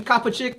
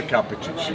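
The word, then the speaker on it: Kapičić: We are here at Baltimore Comic-Con 2017, and I'm chilling with my man, Stefan Kapicic or Kapicic, it just depends on the pronunciation, but Kapicic is perfect.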